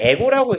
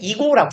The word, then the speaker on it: ego: 뭐 얘를 에고라고 읽으셔도 상관은 없습니다. 원래 이제 독일어니까 어차피. 근데 영어에서는 이고라고 읽어요.